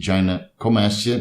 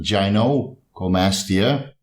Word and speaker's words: gynecomastia: So the word is gynecomastia, not gynecomastia.